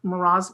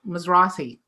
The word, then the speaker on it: Mizrahi: And I love what I do because as an artist, I'm sure, let's say Isaac Miraz, I never say his name right, Mizrahi, right?